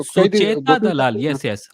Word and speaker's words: सुचेता: नहीं सर, मैंने एक, मेरे को ना एक कई दिन, दो सुचेता तीन दलाल, साल येस, येस, आई now remember. I thought Suchitra दलाल कह रहे थे आप।